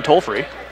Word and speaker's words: Tolafree: Got a correction on the pronunciation. Appreciate that. It was loud in the gym when I was trying to get the right one. So it is Brian Tolafree, someone from Neosho, texting in.